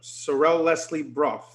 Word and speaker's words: Sorelle Leslie Braugh: How about Sorrel Leslie Brough? I hope I pronounced your name correctly.